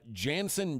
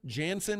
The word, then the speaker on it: Jansen: For a pitcher, Jansen. That's my porn Junk. name. If I were him, I would say I was Brazilian, so the J would be, the J's pronounced as an Hansen H.